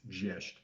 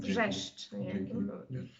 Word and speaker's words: Wrzeszcz: Okay, but the way to pronounce it, I think, is Wrzeszcz. Yes, and it is perfect pronunciation. Wrzeszcz.